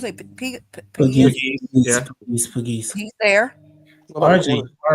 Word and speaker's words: Pegues: Okay, JJ, how you pronounce it? Pegues.